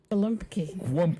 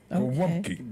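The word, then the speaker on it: gołąbki: Yeah, because the L has a slash through it, which is a w sound in the Polish language. Okay. Okay. Golumpki.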